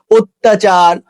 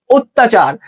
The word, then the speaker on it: অত্যাচার: শব্দের শুরুতেই অ এর পরে জফলা যুক্ত ব্যঞ্জন বর্ণ থাকলে, যেমন দেখো যুক্ত ব্যঞ্জন আছে এখানে, ঠিক আছে, যেমন কন্যা, বন্যা, অত্যাচার, সেক্ষেত্রে অ এর উচ্চারণ তোমার প্রায়শই ওকারের মতো হয়, যেমন অত্যাচার।